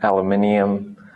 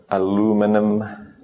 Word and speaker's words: aluminium: Sodium, pretty much every element name, aluminium, or as Americans say, aluminum.